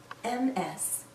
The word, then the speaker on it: Ms: Jones MS we pronounce this as ms/ms sounds like a Z at the end this a woman can